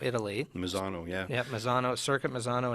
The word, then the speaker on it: Misano: Mini Cooper and am I saying it right Misano Italy Misano yeah yep Misano circuit Misano and italy one